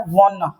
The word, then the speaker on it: wanna: वना।